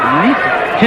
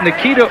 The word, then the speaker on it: Ncita: red trunks welcome Nita don't be fooled by the spelling it's NCI but it is pronounced Nita yeah I went through